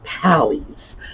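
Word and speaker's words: palais: They were called pallies. That rhymes with alleys or galleys, and it's P-A-L-A-I-S, because that was sort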